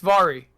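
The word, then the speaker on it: Voirrey: Oh, it's pronounced like sorry. It's Vari.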